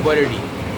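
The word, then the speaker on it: Worli: हम लोग, आप जैसे बॉम्बे में जाएंगे महाराष्ट्र में, तो वहाँ पर लिखा हुआ है इंग्लिश में वर्ली, लेकिन वहाँ पर उच्चारण है कि बरडी, तो आपको अजीब लगता है कि क्यों ऐसा बोलते हैं।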